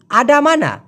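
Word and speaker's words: ada mana: ভাই আপনি আছেন কোথায় ওরা বলে আডামানা এটা হচ্ছে শুদ্ধ উচ্চারণ আডামানা তো ওই যে বললাম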